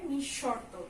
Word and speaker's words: নিঃশর্ত: তারপরে নিঃশর্ত, এখানে যেহেতু আমাদের বিসর্গ আছে তাই শয়ের ডাবল উচ্চারণ হবে, নিঃশর্ত, শরৎ দিয়ে উচ্চারণ নিঃশর্ত, কেমন?